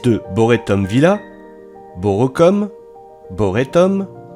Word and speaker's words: Borest: boretton Villa beau recom boréum boray et enfin le Boré d'aujourd'hui pour ce qui est de la prononciation si vous disiez comme moi borrest et bien comme moi vous avez tout faux Boré est un des